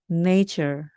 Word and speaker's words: nature: 돼서요 네이가 됩니다 입니다 그리고 옆에 있는 는요 발음이납니다 그래서 여러분 다 아시죠 Nature Nature 자연입니다 우리 인공적으로 만드는 모든 것에대한 다른